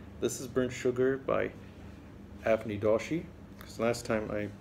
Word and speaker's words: Avni Doshi: This is Burnt Sugar by Avni Doshi, because last time I pronounced her name wrong, and everyone out there corrected me.